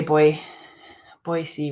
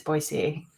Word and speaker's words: Boise: and I always say boy see wrong it's supposed to be what is it supposed to be I always say it wrong Boise Boise it's Boise people they're not happy with